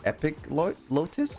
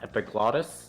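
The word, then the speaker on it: epiglottis: Uh, just behind your epic Lotus. What? What? What does a Epic Lotus is? Hey, dude. Yep. Believe it's pronounced epiglotus.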